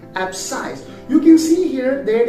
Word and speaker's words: abscise: for example we have the word abscise abscise is spelled as a b s c i s e ab size you can see here that in abscisse the